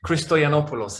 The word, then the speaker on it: Christoyanopoulos: Christoyanopoulos is how you say it, but I'm used to it being butchered and I really don't mind. It's entertaining, it's fine. It's funny how different nationalities tend to pronounce it in different wrong ways and to compare pronunciations, but it's fine.